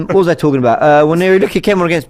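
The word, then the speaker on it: Nwaneri: Waneri looked someone actually corrected my pronunciation. I've been saying Waneri, but apparently it's Waneri.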